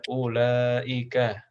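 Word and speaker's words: أولئك: Seperti membaca ya, di Al-Quran ini wawunya dibaca apa tidak? Tidak dibaca ya. Wawunya ini adalah tambahan, tidak dibaca panjang, dia cuma hiasan aja.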